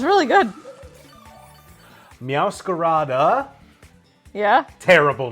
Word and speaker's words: Meowscarada: Meowscarada adds an extra syllable for no real reason.